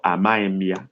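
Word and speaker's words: amaghị: Others can just write, I don't know, or Amaimia. Amaim is spelled Amaghi with dot under and M following it.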